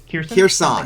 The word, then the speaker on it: Kherson: Kherson?